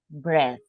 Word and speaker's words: bread: This is one exception to the rule, because in this case we pronounce bread. Okay, so the a disappears in the pronunciation.